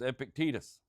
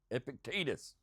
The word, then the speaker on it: Epictetus: I found out that Epic the word I can't say is pronounced Epictitus. Well, that's good to know. I read it myself being a North Carolinian.